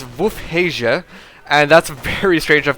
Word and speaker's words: Wolfheze: the uh City and the correct pronunciation of the city and so if you guys heard what I said there it's WF haia and that's very strange